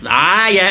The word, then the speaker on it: ayah: Ayah is the plural of ayat. All right. Ayah, long first syllable.